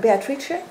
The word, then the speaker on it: Beatrice: how do you pronounce Beatrice? Beatrice. Beatrice, and I like the. And no. Yes, and Beatrice, it's like in French it should be Beatrice. Beatrice, that's it.